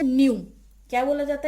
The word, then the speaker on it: nu: Next is frequency, और frequency को represent करते हैं हम इस सिंबल से, और इसको बोला जाता है न्यू।